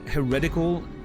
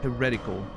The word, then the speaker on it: heretical: What's funny is that heretical is pronounced the way you first pronounced it. Heretical. Heretic, heretical. Wait. Heretic. Heretical. So, in heretical the accent's on the second syllable, the second E.